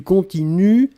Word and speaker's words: continuent: prononcez je continue du continuent ils elle continue et ici le pluriel il continue u11 nt on écrit nt on ne prononce pas d'accord donc il continue